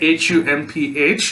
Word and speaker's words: Humph: All right, Humph will be pronounced as humph.